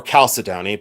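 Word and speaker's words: chalcedony: Um or calcided, but I say calcedney.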